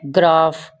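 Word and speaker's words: graph: Third है ग्राफ, ग्राफ में क्या आ रहा है, पीएच आ रहा है, पीएच ग्राफ। स्फेयर, स्फेयर में क्या आ रहा है, पीएच स्फेयर, स्फेयर।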